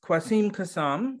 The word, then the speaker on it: Quassim Cassam: uh now i'm terrible with names if i mispronounce this please correct me with kwasim kasam is that correct yeah uh who is the